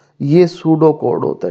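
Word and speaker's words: pseudo: लिख रहे हो तो सूडो कोड यह पी इसमें जो है ना साइलेंट होता है सूडो कोड लज है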